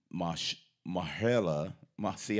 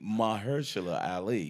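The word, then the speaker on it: Mahershala Ali: he got nominated nominated but um it is mush mihaela moxie I even saying it wrong yeah yeah it's really Maher shilla more Harley Maher Schiller Ali miss Ali so this guy's amazing so we've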